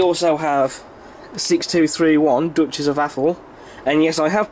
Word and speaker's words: Atholl: Stanier in the BR Line Maroon livery, and we also have 6231 Duchess of Atholl, and yes, I have pronounced that correctly.